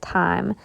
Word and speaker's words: thyme: how you say it I always want to say thyme but that's not right somebody told me the other day they were like you just pronounce it like time so it says we